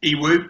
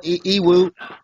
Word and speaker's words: Ewoo: They're both made by a South Korean company called Iwu or Iwu Vartec. So, now, spell out that. I hear that all over the world. Spell it, Iwu. The Iwu is spelled as it sounds.